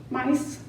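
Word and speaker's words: Myss: within us not Carolyn I think it's pronounced Miss mice m-y-s-ss she's a new thought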